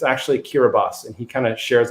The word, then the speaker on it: Kiribati: talk about the island of kiribati um which is spelled kiribati and i've always thought of it as kirby it's this island in the middle of pacific but it's actually kiribati and he kind of shares a little story